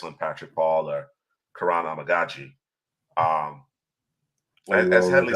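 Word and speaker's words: Amegadjie: Do we go with Kurin Amagaji is how you pronounce it. Amagaji. It's Kuran Amagaji. That's how you pronounce his name. Finally got it under my belt here. Amagaji.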